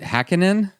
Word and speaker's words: Hackinen: pronounce your last name is it hackin in that's right nailed it oh all right well it's it it's pronounced how it looks like it would be but uh you never